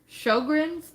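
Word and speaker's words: Sjögren's: It's Sjogren's, I think is how it's said.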